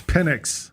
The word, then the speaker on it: Penix: I said Michael Penix. It's Penix. All right, CJ? Listen, all I know is however you want to pronounce it, Penix is explosive.